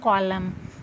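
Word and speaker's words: column: Next देखिए एम एन को क्या पढ़ेंगे, कॉलम, कॉलम, एन साइलेंट है यहाँ पे भी।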